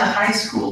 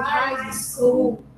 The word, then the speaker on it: high school: We went to high school together. We went to high school together. Hi. Hi. You don't pronounce the G and the H. They are silent letters.